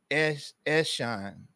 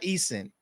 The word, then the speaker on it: Eshan: Oh, and my name is pronounced Eshan. Eshan, not Eason.